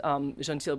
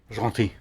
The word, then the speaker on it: Gentil: be surprised if this Gentil wasn't probably their best-selling wine. I asked my daughter for pronunciation help on Gentil, and because she's an avid French student, she left the L off basically.